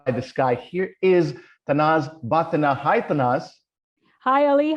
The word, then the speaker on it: Bhathena: Usually, the last name is tricky because it comes from an old Parsi village in Gujarat called Bhatha. So it's like from Bhatha, so Bhathena.